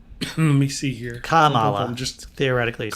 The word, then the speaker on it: Kamala: It rhymes with Mamala, so it's Kamala.